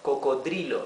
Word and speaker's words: cocodrilo: Here the R, it's not the rough R, it's R, the smoother R. Cocodrilo.